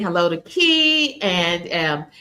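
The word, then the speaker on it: Kie: And everyone's saying hello to Key, and it's spelled K-I-E, but it's short for. And so we pronounce that Key.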